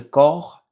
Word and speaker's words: corps: Next one is pour le corps humain. Pour le corps humain. So you don't pronounce the P and S.